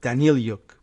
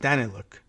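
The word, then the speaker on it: Danylyuk: Minister Aleksandar Danny Luke I think I heard the pronunciation on Wednesday and I think I was going with Danny Luke but I think it's just Danny look posted a photo of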